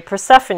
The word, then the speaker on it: Persephone: libera also known as persephone okay so or sorry persephone is the right pronunciation so she is married